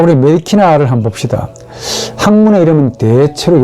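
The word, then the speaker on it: medicina: 자, 의학은 메디키나, 의학의 메디키네, 의학에게 메디키네, 의학을 메디키남. 그렇죠. 의학으로 인해서 메디키나가 됩니다. 영어로 C 발음하고 싶은데 그건 현대 언어고 고대 발음은 모두 크로 발음해야 됩니다. Q하고 K하고 똑같아요.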